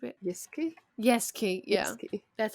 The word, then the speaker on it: Yasuke: Yeah, Yasuke. that's how they pronounce it on that show.